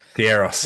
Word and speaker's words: gyros: Is it Goss? Garos. Yeah.